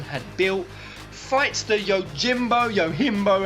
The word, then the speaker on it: Yojimbo: speculated that niflheim had built fights the Yojimbo yimbo how it's pronounced looking being that's the creature that's on